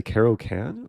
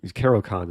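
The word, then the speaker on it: Caro-Kann: like the Carroll count I'm always conflicted to say Carol can or carocon like Carol Khan is a correct pronunciation um I like playing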